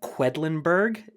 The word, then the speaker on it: Quedlinburg: of figurative desert island is the quacks of quedlinburg am I pronouncing that right that's right that's right okay